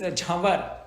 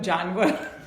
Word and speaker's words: Jawar: Like we have a friend, his name is Jawar. And when Americans say it, they call him Janwar. Because they read it.